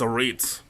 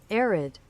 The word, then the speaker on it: arid: Arid. Arid. Why is the heck stress on the first A?